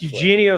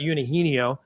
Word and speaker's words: Eugenio: It's Eugenio Suarez, not Einho.